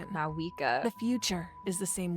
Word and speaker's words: Mavuika: I think you and actually eventually don't arrive at a pronounce very V. I different think you just have to say it like destination. Mavuika.